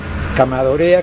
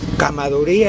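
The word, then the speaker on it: Chamaedorea: Se llama Camadorea elegans. Supongo que la palabra cama es pequeño. Eso no supongo, tengo la seguridad. El término cama se escribe chama, quiere decir pequeño.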